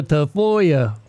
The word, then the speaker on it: Tafoya: Your last name's Tafoya, and they're like, Tafoya? Like what? It's phonetically correct. It was actually anglicized.